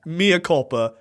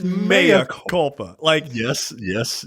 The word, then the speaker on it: mea culpa: They just changed the pronunciation of this word. It's not Mea Culpa. It's Mea Culpa.